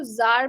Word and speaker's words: czar: सो इसको जब CZAR है, इसको CZAR को जार प्रोनाउंस करते हैं.